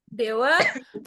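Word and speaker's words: では: DH nih pakainya dewa ya. Pakai H nih. DH mata itu kan gitu pakai H tapi bacanya wa itu partikel sebenarnya. Kalau ditanya kenapa kayak gitu itu rules-nya korewa DH mata gitu tapi bacanya dewa gitu kayak Dewa Arimaeng kan DH juga gitu.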